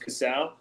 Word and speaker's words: Casale: name at bobby casal my last name is spelled c-a-s-a-l-e it's pronounced casao everyone pronounces it differently but that's where you